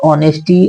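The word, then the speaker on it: honesty: मी आपकी ईमानदारी your ऑनेस्टी ऑनेस्टी का प्रयोग होता है आपकी ईमानदारी ओ से पहले एच आया है शुरुआत में और एच होता है साइलेंट ओ से पहले ठीक है और आगे देखिए हैज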